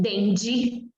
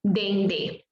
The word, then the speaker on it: dendê: Não vou dizer azeite de dendi, né? Por quê? Porque termina com um acento circunflexo e por isso a minha pronúncia é azeite de dendê.